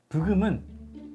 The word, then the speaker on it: 브금: So, 'Beugeum' is the sound when 'BGM' is pronounced as it is. In Korean way, as you see, 'B' goes 'Bu' 'GM' goes 'Guem' Question : Which goes first?